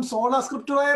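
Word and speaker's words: sola scriptura: സോളോ സ്ക്രിപ്റ്റുറ അല്ല, സോളാ സ്ക്രിപ്റ്റുറ.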